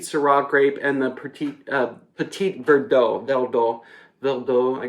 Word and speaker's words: Petit Verdot: grape and the petite Petit Verdot no dull bill though I guess is the French pronunciation you don't pronounce the T but it's a good